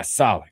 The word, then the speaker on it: Saleh: Yeah, Saleh.